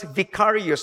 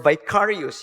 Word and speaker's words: vicarious: When Christ died on the cross, it was vicarious or vicarius. You can pronounce either of the two.